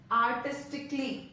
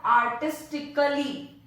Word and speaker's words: artistically: Starting with letter A, first word is artistically. Now it is not artistically. यहाँ पे जो A है that is silent. Okay, it is artistically. Artistically. It is not artistically. Kali नहीं है, it's clean, artistically. Next is logically, not logically.